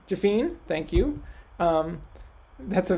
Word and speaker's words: Jafine: is that how you say your last name jafine thank you um that's a very american pronunciation i think on my part um uh